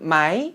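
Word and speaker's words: ไหม: 가지 중요한 특징이 있는데요 먼저 태구가 성조 법상 으로 2 마이 요녀석이 성조는 4성 이지만 발음은 삼성으로 마이 마이 라고 끝을 올려서 바로 해주셔야 된다는 건데요 조금 저는 예를 들어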